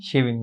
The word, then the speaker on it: Shivin: So, we pronounce the name as Shivin? Shivin, yes, sir.